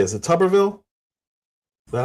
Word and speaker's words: Tuberville: Is it Tuberville? Is that how you say it? Yeah, Tommy Tuberville, yeah.